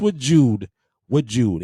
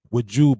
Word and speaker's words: Wajood: This with Jude, and it is spelled Wajood, with Jude by Lattafa Pride.